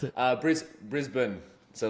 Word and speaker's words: Brisbane: I'm pronouncing it correctly Brisbane how do you pronounce it uh bris Brisbane so like bris bin okay so it's almost like there's no e